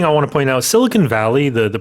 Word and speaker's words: Silicon Valley: The other thing I want to point out Silicon Valley the pronunciation a lot of people say siliconey or silicony.